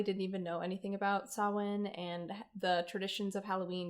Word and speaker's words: Samhain: My first thought was how it's pronounced Samhain, and it is my apologies. It is a holiday. Well, it's not your fault. They said it wrong.